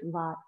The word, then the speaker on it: Vata: The pronunciation is Vat.